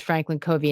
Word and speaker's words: Franklin Covey: on fundamentals if you get them right i mispronounced it by the way it is franklin covey and it's fc is the ticker and it